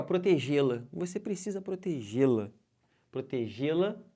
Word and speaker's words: protegê-la: O lá também é fraquinho. Eu não falo protegê-la. Eu falo como? Protegê-la. Esse lá vem bem fraco. Ele é átono, não leva acento.